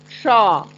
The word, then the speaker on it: ष: The pronunciation is so different. It is Sha. Shaw. Our tongue is touching the part of Murdha.